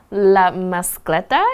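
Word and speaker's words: La Mascletà: OK，那我们这边看到另外一个很常用的片语 known as，就是被称为或以什么身份为人而知的，所以这个活动被称为 La Mascleta. Is that how it is pronounced?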